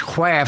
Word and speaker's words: quaff: we all can quest i said quaff that's cloth but it's quaff so it rhymes and i said he